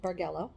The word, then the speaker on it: bargello: are going to put the border on the bargallo um Bargo barello I think I looked it up it's bargello it's actually pronounced bargello um with a Hardy we're going to put